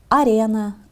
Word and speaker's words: арена: Например, арена, аренда. На языке оригинала ударение в этих словах падает на второй слог, а не на последний.